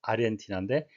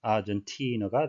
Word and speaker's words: Argentina: 스페인어를 공용어로 하고 있는 아르헨티나, 스페인식 발음으로 아르헨티나인데 영어식 발음은 아르헨티나가 되겠습니다.